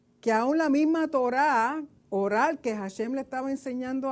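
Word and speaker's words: אור: son es interesante que la palabra piel y la palabra luz en hebreo suenen iguales pero se escriben diferente or piel or luz el or or de piel empieza con una a y or de luz empieza con una Alf entonces pasaron de luz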